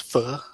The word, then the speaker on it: pho: Pho, I think.